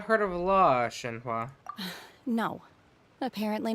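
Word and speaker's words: Shenhe: Shenhua.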